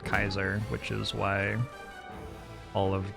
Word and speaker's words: Caesar: son ever again the Caesar said with a hard C or a soft C Latin C's were hard but I'm not currently speaking Latin so you know but yeah it's pronounced Kaiser which is why all